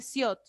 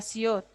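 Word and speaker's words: 시옷: La siot hace referencia a una S, a una sh y a una T, cuando está abajo, en pachín. S al principio, al medio como una sh y al final como una T.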